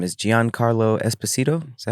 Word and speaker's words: Giancarlo Esposito: Do you know I think his name is Giancarlo Esposito?